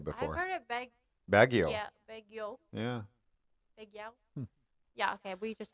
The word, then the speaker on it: Baguio: beg you all oh you don't say the I and the o just bagu I didn't I've never heard anybody call it bagu before Baguio yeah yeah okay we